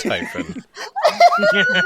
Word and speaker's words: Typhon: It's pronounced Typhon.